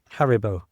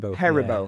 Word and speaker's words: Haribo: How do you pronounce that? Haribo. Haribo.